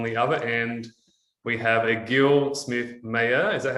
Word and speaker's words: Egil Smith Mayer: Hey guys, it's Toby Morrison here from CFS Health, and on the other end, we have Egil Smith Mayer.